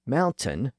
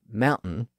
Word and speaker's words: mountain: So one should say mountain by pronouncing the T sound in the middle, not mountain with that little stop in the middle.